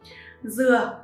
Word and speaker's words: Dừa: Dừa, người miền Nam phát âm là vừa, ý muốn cầu mong sự vừa đủ, không túng thiếu và viên mãn cho cuộc sống.